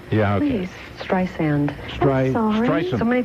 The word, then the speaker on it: Streisand: Please, Streisand. I'm sorry. Streisand. So many people do that, and I always wonder, am I really famous? How could they say Streisand or Or, they call me a lot.